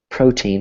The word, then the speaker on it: protein: So, for example, protein has two syllables, pro and teen. So you can either say you can either stress the first syllable or the second syllable.